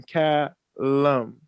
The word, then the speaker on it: Callum: Callum. Like 40 cal. 50 caliber sniper. Yes, Cal.